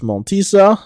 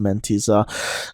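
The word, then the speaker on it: Mentissa: I think I said in the last episode it was Red Sebastian versus Montisa, or Mentisa. Turns out it is actually pronounced Mentisa.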